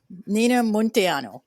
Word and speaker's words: Munteanu: a silly question everybody asks asks well okay montiano it's it's pronounced did you notice I kind of wanted